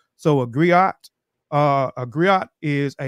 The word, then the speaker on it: griot: today right so a griot uh a griot is a unique West African um the griots are jelly professionals Encompass many roles the gri pronounced Grio have been referred to